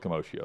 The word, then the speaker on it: commotio: Let's go with commotio then. Like commotion.